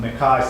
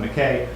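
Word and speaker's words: McCay: Windsor metallics work winter it's pronounced by some macaques and Mackay his Little Nemo in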